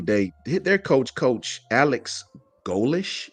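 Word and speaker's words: Golesh: But South Florida at their media day, hit their coach Alex Golish. Is it pronounced Golish, like that? yeah, Golish.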